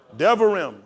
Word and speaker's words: Devarim: Devarim. How do we spell it?